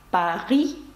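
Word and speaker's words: Paris: Насправді пишеться як «Парі». З літерою «с» наприкінці вона приголосна і не вимовляється.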